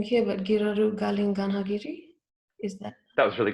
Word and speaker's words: Giraru Galing Ganhagirri: is called um you have to correct my pronunciation if i'm wrong here but giroru galin ganhagiri is that that was really good yeah yep